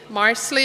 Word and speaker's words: Marsali: My unusual name, Marsali, is from the Gaelic language of that Celtic people. It rhymes with parsley, if that is helpful with this weird name.